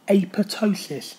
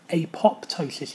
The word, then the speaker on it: apoptosis: talk you through the process of apotosis sometimes it's said um apoptosis even though it's a silent P but It ultimately means